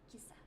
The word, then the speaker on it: kissa: I'm wondering if it's Kisa or Kissa. I'm probably saying it super American. Kissa. Kissa. I was just. What? No. No dogs. Only cats. Kissa. Like kiss.